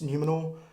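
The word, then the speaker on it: Númenor: people and hate me i think it's numenor uh which was another i think you got that right yeah which is another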